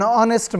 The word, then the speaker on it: honest: umbrella an hour an honest man and air it will be noticed that the words our honest a begin with a vowel zone as the initial consonant H is not pronounced before a word beginning